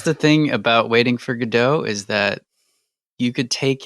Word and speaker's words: Godot: And apparently in the French pronunciation of Godot is more like Godot. Like the first syllable is emphasized, so the God part.